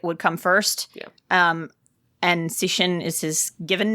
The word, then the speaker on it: Cixin: Please pronounce his first name for me. Cixin.